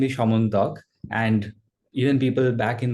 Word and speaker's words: Syamantak: My name is Syamantak, and even people back in my hometown mispronounce it.